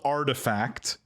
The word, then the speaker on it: RTFKT: i'm gonna pronounce it it's not the way it's spelled it's called artifact or but it's spelled rtfkt they make shoes too